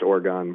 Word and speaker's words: Orgone: pronounce it is it orgon I believe it is pronounced orgon like you like you're mispronouncing organ basically okay I had a